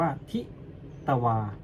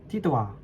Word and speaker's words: ทิตวา: เสียง ว่า ตรา อ๋อ คำ ว่า ทิตวา ให้ ออก เสียง ต เต่า กับ ว แหวน โดย ใช้ สระ อา ร่วม กัน เป็น เสียง ควบ ก้ำ ออก เสียง ว่า ทิตวา ทิตวา ทิตวา เงี้ ล่ะ อ ประมาณ